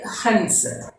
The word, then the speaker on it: हंस: സഫേദ് രംഗ് കാ എക് ഹൻസ്. ഹൻസ് നമ്മൾ ഹംസം ഇതിനെന്താണ്, എങ്ങനെയാണ് ഹിന്ദിയിൽ ഉച്ചാരണം വരുന്നതെന്ന് അനുസ്വാരത്തിൻ്റെ ബിന്ദിയുടെയും ചന്ദ്രബിന്ദുവിൻ്റെ ഇതിൽ നമ്മൾ പഠിച്ചു. അപ്പോൾ ബിന്ദി ഇട്ടാണ് ഹൻസ് എന്ന് എഴുതുന്നത്.